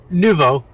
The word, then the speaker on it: Nouveau: Is that how you pronounce it? Nouveau, yeah. Nouveau. It's French.